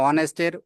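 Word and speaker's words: honest: consonant এ হল এখানে অনেস্টের ও থেকে উচ্চারণ হচ্ছে ওখান থেকে ও থেকে উচ্চারণ হচ্ছে অনেস্ট এজন্য আমরা এখানে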